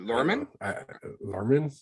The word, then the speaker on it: Luhrmann: do you say his last name is it lerman yeah anyway um and i was actually nervous